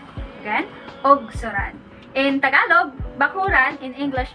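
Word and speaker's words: ugsuran: So instead of U, it's O.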